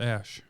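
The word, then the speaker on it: Æ: look it up it's ash what it's ash no it's like the a e is pronounced ash i'm looking it up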